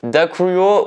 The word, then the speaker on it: Дякую: Alors attendez, comment ça se prononce? Дякую Україні. Dakuyo Ukraina.